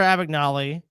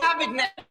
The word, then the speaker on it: Abagnale: In 1978, after Abagnale had been a featured speaker at an anti-crime seminar, the San Francisco Chronicle reporter looked into his assertions.